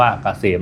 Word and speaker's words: KCM: แซน นำ หน้า นะ KCM อ่าน ว่า เกษม นะ ครับ สำหรับ ท่าน ที่